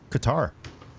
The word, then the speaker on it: Qatar: You're watching the news, they're talking about Qatar. It's like, what? There's no C. It's a Q. Even people from Qatar pronounce it Qatar, but they probably, who knows?